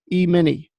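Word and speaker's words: E-mini: emini and that's how you say it micro emini micro nasdaq micro Dow micro Russell may is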